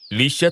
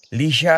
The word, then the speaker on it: Lia: Nasanay na lang si Lia na ganon ang pagkakabigkas ng pangalan niya. Pero kung abaybay ang pagbabasihan, Lia ang tamang bigkas.